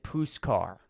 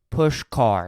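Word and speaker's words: Pushkar: it got really hot they said my name wrong they said puscar they uh got a nigerian 27 syllable name right but they got my name wrong it was two syllables push car it's not it's not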